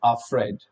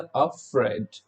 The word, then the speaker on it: afraid: सो it's pronunciation is अफ्रेड. सो ये जो FREYD आपका बोल्ड में लिखा है, इस पे आपको एम्फेसाइज डालना होता है, अफ्रेड, अफ्रेड. ऑलराइट, इस तरीके से आप इसको प्रोनाउंस कर सकते हैं.